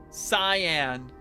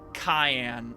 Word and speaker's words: cyan: Is it cyan? Cyan? Yeah, cyan. I would I would always say cayenne. I don't know why. Just the hard K when it's a C.